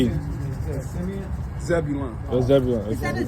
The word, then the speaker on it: Zebulon: Zebulon.